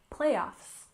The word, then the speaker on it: playoffs: first we have playoffs we stress the first syllable playoffs playoffs and this is a